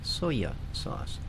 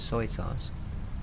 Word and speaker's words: soy sauce: because for some reason both of my parents pronounce soy sauce soya sauce. In fact, everybody I knew that's basically how you pronounce it. Passive soya sauce. So, if soya sauce must be made out of soya beans. Of course, I know better now. It's soy sauce and it's uh yeah, fermented soybean basically.